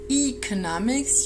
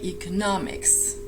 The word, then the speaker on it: economics: Okay, so make sure the stress is on the third syllable here. You do not say economics, you do not say economics. You do say economics, right?